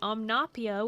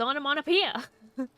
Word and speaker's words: onomatopoeia: I didn't associate omnopia with onomatopoeia. They freaking add a whole extra, like, syllable in there that isn't actually part of the word.